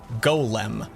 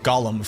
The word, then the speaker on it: Golem: the comments will go it's Golem not Gollum from Lord of the Rings and I'm like I